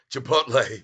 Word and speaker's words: Chipotle: near range Dave S superat hey Tyler it's pronounced a chip oh Chipotle Chipotle thank you for letting me know not chipot Chipotle thank you ah thank you David Casey dressle